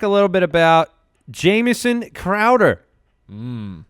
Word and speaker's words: Crowder: Nelson let's talk a little bit about Jameson Crowder mmm it's pronounced crowd ah ah yes three-year - honey eight and a